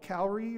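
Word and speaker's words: Cowrie: good ones out there kippo is now called calorie or car I heard it pronounced both ways but this is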